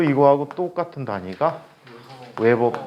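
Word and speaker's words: weber: 테슬라라는 단위를 쓰고 또 이거하고 똑같은 단위가 웨버 퍼 제곱미터라고 해. WB를 웨버라고 읽어.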